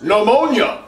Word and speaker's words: pneumonia: The P is silent! Pneumonia does not start with a P.